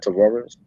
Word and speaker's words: Tavares: Am I saying the name right? Tavares? Yeah, you saying it right.